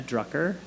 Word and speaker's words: Drucker: So look up some writing by Joanna Drucker. Joanna spelled Joanna, and Drucker spelled like trucker, but with a D.